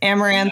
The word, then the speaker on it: Amouranth: name do you like being how do you pronounce it I don't even know I read it I've never heard you say it amaranth and that's how you like in this setting